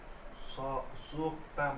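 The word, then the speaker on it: 속담: यसको उच्चारण के हुन्छ? छो छोक्ताम यो छ हो र? सोक्ताम हो क्या सोकताम सोक्ताम सोक्ताम। सोक्ताम भनेको के हो?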